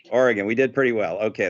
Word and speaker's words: Oregon: to make sure that we got it right oregon you got it right oregon we did pretty well okay that's good to